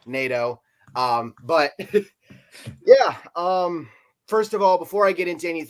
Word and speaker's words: Nadeau: I'm yes it's pronounced NATO um but yeah um